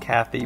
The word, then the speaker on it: Cathay: It is Cathay, or perhaps it's pronounced Kathy, but it's spelled Cathay.